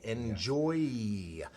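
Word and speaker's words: Njoie: don't drop it uh so the brand is enjoy enjoy yes uh you can see how to spell it uh my screen if you see that again it's n-j-o-i-e enjoy electro is that particular product uh 50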